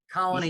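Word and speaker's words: Colonie: It's not pronounced colony, it's colony. It's a little subtle distinction, but colony. So you put the emphasis on the wrong syllable. Okay. So you put the emphasis on knee.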